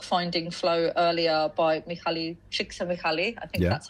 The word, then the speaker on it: Csikszentmihalyi: Yeah, and you showed the book Finding Flow earlier by Mihaly Csikszentmihalyi. I think that's how I'm pronouncing his surname.